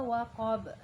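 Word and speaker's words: وَقَبَ: Terus iza waqab. Iza waqab. Waqab. Qab ya. Jadi lebih kuat kita mantulnya waqab.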